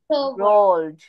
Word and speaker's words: rolled: রোলড, এটার pronunciation হবে রোলড। একবারে ল আর ড একসাথে প্রোনাউন্স করব।